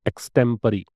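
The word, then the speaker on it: extempore: बहुत बार आपने एग्जाम्स में देखा होगा इसको, इसका होता है एक्सटेम्परी, इसका प्रोनाउंसिएशन है एक्सटेम्परी, ठीक है।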